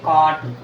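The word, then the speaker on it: caught: जैसे कॉट, COUGHT, कॉट। कॉट, यहाँ भी देखो GH है, यहाँ देखो GH है, GH साइलेंट है तो इसको हम पढ़ेंगे कॉट।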